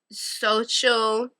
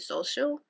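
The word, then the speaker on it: Xochitl: laughs last by uh social Gonzalez I think that's how you say it social social like you say the X like a z those are my top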